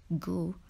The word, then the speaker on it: ghoul: can find an undead goo in video games and the player will need to find a way to destroy it don't forget the letter H in goo word number 17 is